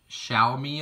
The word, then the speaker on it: Xiaomi: here so this is a Xiaomi I believe is how you pronounce it I did have to